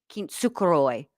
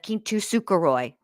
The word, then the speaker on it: kintsukuroi: Uh because I always say it wrong because she says it wrong. Kintukuroy instead of Kintukoy.